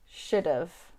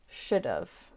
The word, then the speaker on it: should have: of would of and should have becomes should've should've there you go i hope